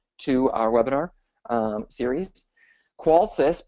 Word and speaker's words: Qolsys: who are new to our webinar um series qualis pronounced qualis is short for quality of life life systems